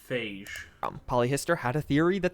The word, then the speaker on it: phage: Fog is pronounced phage.